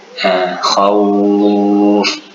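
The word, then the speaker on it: خوف: Ya sukun kita baca i, waw sukun kita baca menjadi u. Quraisy, khauf.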